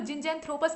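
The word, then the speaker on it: Zinjanthropus: ही हैड a genus of जिनजैंथ्रोपस, ये जो नाम है ये क्या है, इसका जो प्रोनाउंसिएशन है वो जिनजैंथ्रोपस का होगा।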